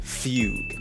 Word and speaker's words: Fugue: makes me think otherwise and that's the name Fugue yes it's pronounced fug now despite the way this looks